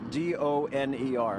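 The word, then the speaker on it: döner: Now, it's homemade, D-O-N-E-R. How do you pronounce that?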